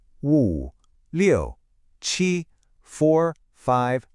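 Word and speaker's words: 七: It's pronounced chi. And hey, there's that high flat tone again, just like we had with our number one, e chi. It's just a clean, simple sound.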